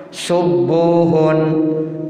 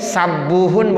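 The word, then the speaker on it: سبوح: Tapi rata-rata orang bacanya domah. Subuhun. Tuh rata-rata begitu. Walaupun boleh sabuhun boleh.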